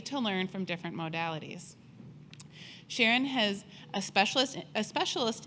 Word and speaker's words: Sheren: to pronounce my name Sharon rhymes with Heron this picture was taken